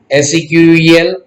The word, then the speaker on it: SQL: SQL को pronounce किया जाता है SQL, SEQUEL, that is a structured English query language.